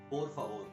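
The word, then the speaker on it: por favor: the word for please please in spanish is poor favor poor each of the hours is lightly flipped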